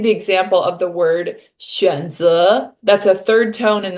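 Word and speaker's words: 选择: I'd like to give the example of the word 选择. That's a third tone and then a second tone. 嗯选择.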